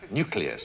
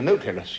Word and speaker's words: nucleus: It's nuclear, as in the word nucleus of an atom. The nucleus, yeah. No, nucleus, not nucleus. Nucleus, okay?